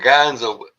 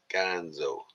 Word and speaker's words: Ganzo: But uh I keep saying Gonzo. I always think of Gonzo. Nice when you say that. Ganza. Nice. Ganzo.